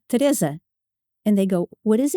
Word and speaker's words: Teresa: you go back but I am not a Teresa I'm a Teresa and you the other